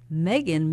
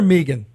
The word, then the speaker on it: Meagan: lower Manhattan high mega is that Megan or Meegan it Megan it is Megan well that's good to